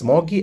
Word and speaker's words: ksmuggy: my username this is smoggy I pronounce it this first K is silent so I pronounce it